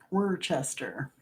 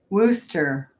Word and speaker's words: Worcester: Worcester. I did. It was a test run. Worcester. Worcester. So you say Worcester, like Worcestershire sauce.